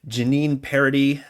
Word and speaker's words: Jeannine Paradis: I mispronounced it in the introduction, talking to her. Jeannine Paradis from Biddeford.